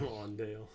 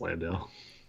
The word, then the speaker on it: Landale: Lawndale. That's not actually how you say his name, right? Because I heard a commentator saying Lawndale the other night. Is it Lawn? Have I been saying it wrong? No, it's Landale.